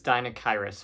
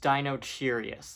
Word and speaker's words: Deinocheirus: All right, so next up is Deinocheirus, meaning terrible hand. Which I somehow thought was pronounced Dinocheirus, like it was some sort of British gentleman. Deinocheirus was a weird dinosaur